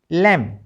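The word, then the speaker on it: lamb: सी ओ एम बी कॉम एल ए एम बी लम। ठीक है? और डी यू एम बी डम। इन सभी में बी साइलेंट है।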